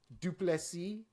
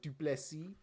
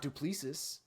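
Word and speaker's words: Du Plessis: get that name wrong thank you duplessy even if you don't want to say it like duplexi it's not duplicious I can tell you that yeah dude when he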